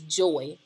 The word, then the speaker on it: Joi: Now, Miss Smith does have a little sister, and my little sister's middle name is Joy, and it's spelled J-O-I.